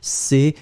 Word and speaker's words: crois: So je crois, C-R-O-I-S. Je crois, final S not pronounced.